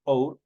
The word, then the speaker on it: hour: Por ejemplo, see you in an hour. Entonces, hour obviamente detenta como una vocal. La pronunciación recae directamente sobre la vocal porque la H no tiene sonido.